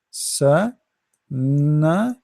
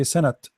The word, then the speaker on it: سنة: Sa, na, san, and then ta. This is ta marbuta, ta light ta. So sana. Remember the ta, we don't say sanat. This is ta marbuta, not ta maftuha.